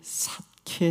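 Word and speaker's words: שָׁקֵד: 지켜라 는 동사 즉 살구나무 라는 명사와 시킨다고 하는 동사가 같은 발음 이에요 예를 들면 이 살구나무 가지 란 뜻은 히브리 로 사케 입니다 그런데 시킨다는 동상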